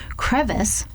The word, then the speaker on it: crevice: Crevice with a second syllable that rhymes with miss is a small crack